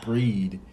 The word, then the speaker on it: Brigid: So, the final guy, well, deity that we have for Celtic is Brigid, or Breed, as it's pronounced sometimes.